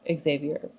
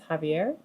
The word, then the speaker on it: Xavier: Well, it's spelled with an X, so Xavier. But his mother calls him Mijo later in the book, so I think it's Javier. I could be extremely wrong, but I'm going to say Javier.